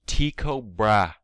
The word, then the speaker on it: Tycho Brahe: Meet Tiko Brah. Oh, I butchered that. Tiko Bra, huh, interesting. or Brahi or Broham. I don't really know. Let me look it up. All right. Apparently, I was right the first time.